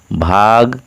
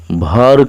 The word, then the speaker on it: भर: यहाँ एक देव स्थान है जिसे भाग कुल देव लिखा गया है। वास्तव में उसका शुद्ध उच्चारण है भर कुल देव ही है।